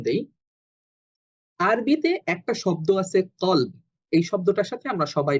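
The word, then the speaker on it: قلب: এই কলবটা আমাদের অনেক পরিচিত শব্দ। এখন আরবিতে কলব এই শব্দটা লিখতে গেলে কফ লাম বা, এই শব্দটা উচ্চারণ হয় ক দিয়ে, কলব।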